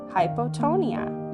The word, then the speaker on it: hypotonia: noodle technically that's called hypotonia you can say it like this hi po tone it's a big word